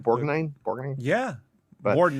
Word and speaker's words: Borgnine: Borgnine? Borgnine? Yeah. But, More than that. Yeah, Borgnine.